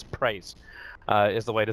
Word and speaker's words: PRIES: Up against Priest, you gotta say that, I gotta say them correctly as well as Priest. Praise is the way you're meant to actually pronounce it.